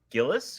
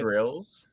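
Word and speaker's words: Grylls: then it's just that bear Gillis gorillas I think it's grills say it right grills he climbed Everest Zach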